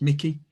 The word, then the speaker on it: Michie: Okay, so the first thing to emphasize is that my name is Michie, even though it's spelled like Michie. It's not, it's Mickey, like the mouse, but spelled like Michael.